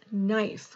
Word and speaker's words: knife: is that the rule we have two special sounds that say um knife how do we spell that knit knife kn so that one is